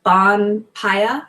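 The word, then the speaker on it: ヴァンパイア: But Bon Kita is just like, hey, it sounds kind of like Vam Killer, because B and V are the same in Japanese. So Bon Paya is how you say vampire.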